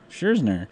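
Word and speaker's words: Scherzer: for comparison in 2013 Max scherner scherner scherner you said it right scherner received a $9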